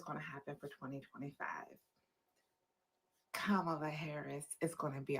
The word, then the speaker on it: Kamala: It's the comma with a la. Kamala.